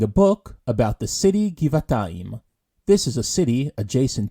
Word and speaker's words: גבעתיים: Notice here how the kaf is pronounced in its hard version, since it's the first letter in the word. However, the fei and vet are in their soft versions, since they're not at the beginning of their respective words.